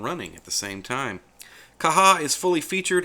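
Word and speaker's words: Caja: manager which is called kaha that is spelled CA J a I've heard some people call it Kaja but like I said this is a Spanish pronunciation so the correct way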